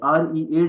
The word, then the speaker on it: read: The first form of verb will be रीड while the second and third form will be read. जिस तरह colour रेड होता है ना RED इसकी pronunciation वैसी होगी.